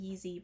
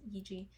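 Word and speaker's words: Yizhi: I think I used to pronounce it Yeezy, but I'm pretty sure it's Yeeji. So it would have been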